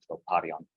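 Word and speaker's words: τροπάριον: The accent's on the alpha, troparion.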